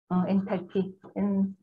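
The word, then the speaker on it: enthalpy: 엔탈피. TH 발음이니까 번데기 발음을 여러분 해주셔야 되고 엔탈피고요. 델타 H 마이너스 엔탈피 T 온도고 그리고 델타 S는 여러분 혹시 뭔지 아세요?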